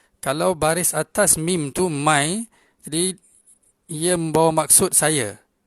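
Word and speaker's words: میں: Kalau kita nak bahasakan diri saya, maka dalam Urdu adalah mai, iaitu M-A-I. M-A-I. Dalam bahasa Urdu, ejaan dia mim, ya dengan nun gunnah.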